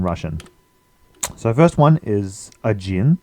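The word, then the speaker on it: один: to ten in Russian so first one is ajin ajin a gin is one there's also two other forms depending on which gender you're using so um odna I think is one feminine gender a Jin is masculine gender and adno is new to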